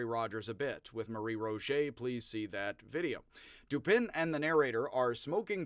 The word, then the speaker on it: Dupin: the name dupin not dupont i'm going to pronounce it like an american dupin because he's duping people whether or not he's a dupe or a dupin of people he is duping people so like the rue